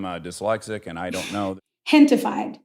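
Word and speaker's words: Gentefied: Hentified. So it's a play on gentrified, but gente is the word in Spanish for people.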